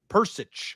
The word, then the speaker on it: Peričić: Peričić. Oh, it's yeah, an itch. H. It's going to end with that itch.